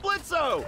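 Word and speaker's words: Blitzø: hey that sounds like blitzo the O is silent heyy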